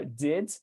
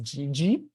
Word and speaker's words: did: So that's kind of tricky, The same word goes for did, the past of do. Sometimes people would pronounce it as GG, and then you have like the palatalization of the sound, and you have an extra syllable coming up.